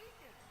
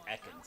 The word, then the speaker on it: Ekans: Oh, it's Egan. I don't know if it was just someone pronounced his name wrong, but it's Ekans.